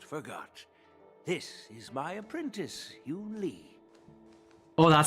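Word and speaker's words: Yunli: This is my apprentice, Yoon Lee.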